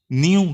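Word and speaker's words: knew: विच जिसे ही वो न्यू, न्यू में के साइलेंट है, न्यू जानना, नोट नहीं, जिसे वो नहीं जानता था।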